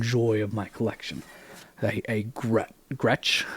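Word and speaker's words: Gretsch: of my collection hey Gretch I think is how it's pronounced Gretch uh resonator it's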